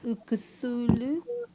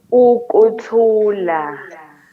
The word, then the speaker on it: Ukuthula: So how do we pronounce the track? Can you say it slowly? Ukuthulu? Ukuthula, Ukuthula. Ye- ukuthula, Yeah, I'm not trying to kulo sing mhlaba it.